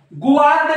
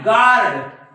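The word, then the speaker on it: guard: biscuits असं म्हणू शकता तुम्ही गवार्ड नाही गार्ड काय म्हणणार गार्ड गार्ड बघा हा युद्ध सायलेंट आहे राईट सॉरी सॉरी सॉरी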